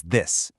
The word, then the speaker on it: this: All 4 of these words start with a voiced TH sound. It's not a hard D or a soft T. It's a vibrating sound.